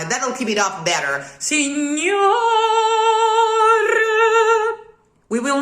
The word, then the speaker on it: signor: Perché, signor. Be there already. Bravissima. You do the exact same thing without phonetically opening the O of signor. Aim to the ideal schwa after the rolled R.